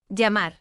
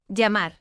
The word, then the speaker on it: llamar: For example, in Argentina and Uruguay, llamar, can sound like sh. llamar.